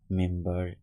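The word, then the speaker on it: member: সেটা হচ্ছে যেমন নাম্বার মেম্বার কিউকাম্বার এই যে শব্দগুলো এখানে কিন্তু এম এর পরে বি অর্থাৎ বি এর আগে এম তার সত্ত্বেও কিন্তু এখানে বি এর উচ্চারণটা হয়েছে নাম্বার মেম্বার কিউ নাম্বার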